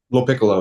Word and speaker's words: Piccolo: Give me the correct pronunciation of your Piccolo. Piccolo, yes, sir.